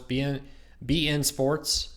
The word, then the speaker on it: beIN Sports: BEIN Sports, BN Sports, that's how you say it, I believe, is on PlayStation View.